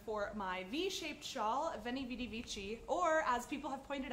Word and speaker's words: veni vidi vici: v-shaped shawl being called veni vidi vici even if they pronounce the V's like w's I don't care I'm